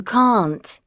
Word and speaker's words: can't: Now, in the case of the negative, you have the sound, it's similar to car, are. No, you can't, right? It's like longer.